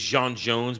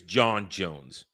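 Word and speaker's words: J'onn J'onzz: His real name is Jean Jones, but then when he gets turned, it's John Jones. Mhm. When you pronounce it in human, but it's Jean Jones.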